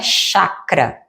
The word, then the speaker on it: chakra: Chakra é chakra se escreve com ch, mas a pronúncia é como se tivesse um tem mudo no início. Então a pronúncia correta, chakra, que são os centros